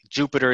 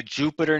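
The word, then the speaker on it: Jupyter: development environment called notebooks particularly jupiter notebooks now jupiter is spelled j-u-p-y ter to reflect its python heritage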